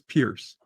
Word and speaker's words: Piers: Do you know have any idea? No, I'm not aware. Yvette says I'm correct. It is Pierce.